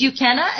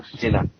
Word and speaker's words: Uchenna: I think it's Ukenna. Is that how you say it? Ukenna? Anyway, he's calling from... Uchenna. Uchenna? Uchenna. Yeah, Uchenna. Yeah.